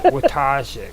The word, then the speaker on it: Wojtazsek: Wojtazsek.